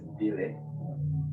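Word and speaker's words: Gbile: L-E, Oh, pronounced as Billy. oh, right. Forget the G is silent.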